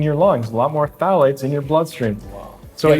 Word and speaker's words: phthalates: no one is so you don't pronounce their pH it's just stallions so one thing I learned in your book phthalates of the chemicals that